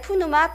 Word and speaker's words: pneuma: 영혼 을 뜻 하는 그리스어 는 프네우마 (pneuma) 입니다 . 또한 , 이 단어는 흔히 네우마 (neuma) 로 발음 되기도 합니다 . 여러분 , 모두 ' 프네우마 ' 라고 말 해 보세요 .